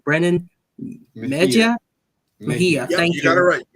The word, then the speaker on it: Mejia: I don't know how to pronounce his name. Brennan Mejia.